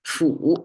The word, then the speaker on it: 斧: Fu is today's concept. And again, simplified and traditional, they look the same, pronounced as a fu.